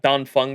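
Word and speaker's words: Dan Feng: old I think right it's pronounced uh don Fun by the way your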